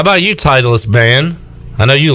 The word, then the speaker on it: Im: M.